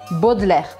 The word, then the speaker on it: Baudelaire: Esse nome, Baudelaire, parece que tem um monte de letra, mas você não tem que pronunciar a metade delas. Então fica assim o som mesmo. Baudelaire. Eu já ouvi muita gente falando Baudelaire. É Baudelaire, Baudelaire, Baudelaire. Charles Baudelaire.